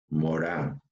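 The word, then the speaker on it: Morin: propuesta de Edgar Morán se escribe Morín pero se pronuncia Morán Edgar Morán recuerden es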